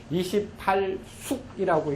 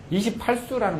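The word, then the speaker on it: 二十八宿: 그래서 28개인 28숙이라고 읽지 않고, 그렇죠. 이건 수라고 읽어요. 발음이 숙자도 있고 숫자 있는데 숫자는 딱 하나밖에 없어요. 28수라는 말밖에는 없어요. 28수가 시야 이것이다 라고 해서 각 7개씩 별을 만들어 놓았어요.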